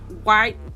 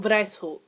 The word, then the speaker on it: Weishaupt: Adam White. Oh, Lord. Is that German? Wow, it is German. Wow, I should probably fucking know that. So, the founder was actually Adam Weishaupt.